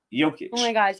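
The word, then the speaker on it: Jokić: y uh uh it's I always say it wrong it's Nicola yic y yoke yic yeah you said it right yic oh my gosh it's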